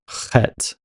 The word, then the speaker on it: Heth: that Canaan actually became the father of Het, which is the actual pronunciation of Heth.